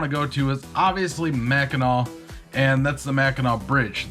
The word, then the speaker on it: Mackinac: And it's pronounced Mackinac, you uneducated swine, not Mackinac, so say it damn right.